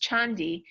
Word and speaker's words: Candi: the name Candi right in Javanese is pronounced chandi um it really was